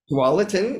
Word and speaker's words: Tualatin: Is it Tualatin? Is that how you say it? Wallace. Tualatin.